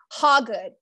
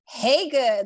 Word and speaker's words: Hagood: They say Hagood. No, it's spelled that way, but it's pronounced Hagood. Like, hey, she's good. And that's why I went back to my birth name, Hagood, opposed to, because